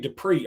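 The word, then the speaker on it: Dippre: It is Dupree. I know it doesn't look like how we would normally spell Dupree, right, like Marcus Dupree, but no, it is pronounced CJ Dupree.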